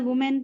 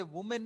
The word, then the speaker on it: women: नहीं आएगा क्योंकि वुमेन, अच्छा इसे वुमेन नहीं पढ़ेंगे, ठीक है? इसकी जो प्रोनाउंसिएशन है, this is विमेन। What? This is विमेन। वुमेन अगर सिंगुलर होता तो हम वुमेन पढ़ते, but this is विमेन। What we will call it? विमेन। विमेन इज the actual pronunciation.